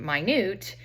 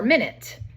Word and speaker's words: minute: And then minute, that word there that you see can actually be pronounced in 2 ways. You can pronounce it minute, which is very small, or minute, which you guys are probably more familiar with.